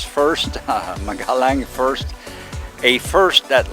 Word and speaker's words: PHirst: pronounce that but uh p h i r s t i'll let read it as first magalang first a first